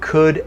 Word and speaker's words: could: So you don't pronounce the O, and you also do not pronounce the L.